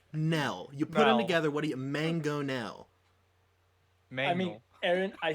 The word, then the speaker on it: mangonel: You look at the letters and you say mango. What does that say? Wait. Mango. Mango. My And then favorite. what does NEL sound like? Nell.